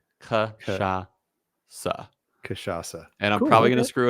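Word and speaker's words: cachaça: name kashasa yeaha is that really how it's pronounced M it's a Sha and then a s kaaa kashasa and I'm probably gonna screw it up as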